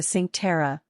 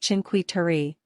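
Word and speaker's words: Cinque Terre: The Villages of the sink Terror pronounced chinqui tari with a rolled or sound were shaped by their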